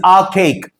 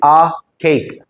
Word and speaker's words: archaic: It is archaic. A lot of people don't pronounce this correctly because they don't know how to pronounce it. It is archaic. Cake काटते ना, archaic.